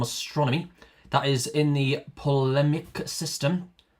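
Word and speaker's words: Ptolemaic: uh equant eiq u a n t that is from astronomy that is in the pmic system that's pt o l e m a i with a silent t uh so in that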